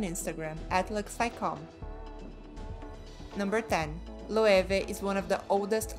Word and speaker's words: Loewe: name that is why many people are confused about the pronunciation of the name the correct way is lueve with a v number nine kraft is